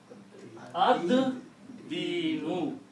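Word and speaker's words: الدين: And then you pronounce ad-dinu. You do not pronounce lam because dal is a shamsi letter. It kills the sound of lam.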